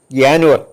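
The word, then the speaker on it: Januar: എന്നുള്ളതിന് ജെ എൻ യു എ ആർ എന്നാണ് അതിന് ജാനുവർ എന്നാണ് പറയുന്നത് ജ ഉച്ചാരണമല്ല അതുപോലെ ജെ എ യ എന്ന് പറയും എസ്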